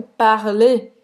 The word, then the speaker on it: parler: E você não vai pronunciar esse R no final, certo? Parler. ER, nesse contexto, é E.